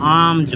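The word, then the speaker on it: alms: a baby cow एज आम्स यहां पर ल साइलेंट होता है आमज पढ़ते हैं फ्रॉम अ रिच मर्चेंट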